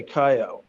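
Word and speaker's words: Cailloux: Well, let's talk about a little bit about Andre Caillou. Is that how we pronounce his name? I always get. Yeah, Caillou. Yeah, that's right.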